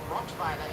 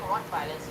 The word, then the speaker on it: Rottweiler: and I'm not putting Rottweilers in bad light. And actually, that's how you say it. I know you guys say Rottweiler in America, I'm like, wow, okay, but so it's Rottweiler, right?